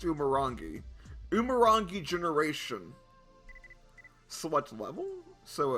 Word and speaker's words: Umurangi: Well, anyway, this is apparently Umurangi. I believe that's how it's pronounced. Umurangi Generation.